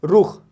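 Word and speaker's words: رخ: जैसे रुख, रुख, पहले रे की साउंड आती है, फिर ऊ की साउंड आती है, रुख।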